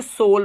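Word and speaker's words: soul: जब किसी वर्ड में ओ यू के बाद एल दिखाई दे तब ओ यू का उच्चारण आपको सिर्फ ओ करना है।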